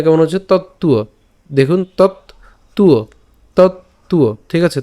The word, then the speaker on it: তত্ত্ব: নিচের অন্তস্তবটা আমরা জানি, অন্তস্তব থাকলে এটা উচ্চারণটা উয়োর মতো হবে। তো একসাথে উচ্চারণ করলে তুয়ো, আমরা এভাবে লিখতে পারি তত্ত্বুয়।